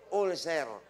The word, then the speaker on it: ulcer: tawag po ay ulcer pero sa Pilipinas ang pronunciation ulser Sabihin niyo nga ulcer Aler Hindi po bagay Balik kayo sa ulser Okay dati dalawa lang